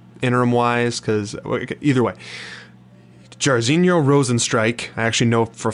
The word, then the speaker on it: Rozenstruik: Jairzinho Rozenstruik, I actually know for a fact to pronounce that last name right, so boom, kudos to me.